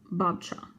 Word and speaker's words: Babcia: I always call my grandmother Babisia, which is Polish for grandmother. It's pronounced Babcia. Babcia?